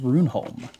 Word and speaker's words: Runeholm: It is pronounced Runeholm. The second part, the Holm, is from a Norse origin.